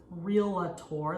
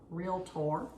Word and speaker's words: realtor: mistakes in your transaction uh a realtor often mispronounced as real a tour there is not an i or no it's r e a t realtor okay not real at tour i get that